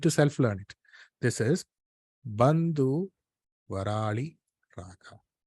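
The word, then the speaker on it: Panthuvarali: It is spelled as P-A-N-T-H-U, Varali Raga. It's not Varali Raga, it's Bandhu Varali Raga.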